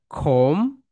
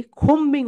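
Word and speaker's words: combing: ওকে, আমরা অনেকেই বলি খোম্বিং অপারেশন, কিন্তু রাইট প্রোনাউন্সিয়েশন খোমিং অপারেশন, খোমিং অপারেশন।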